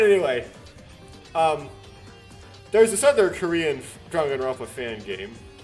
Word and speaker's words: Danganronpa: Danganronpa, this is pretty accurate. This is pretty much accurately pronounced out Danganronpa.